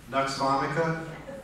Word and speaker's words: Nux vomica: Nux vomica, N-U-X, and then it's just like vomit, except for "ka."